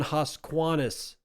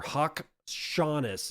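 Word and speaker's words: Haqshanas: Amen Hosquanis or Hawk Shaunis is the way you pronounce that from Cointelegraph writing Tokyo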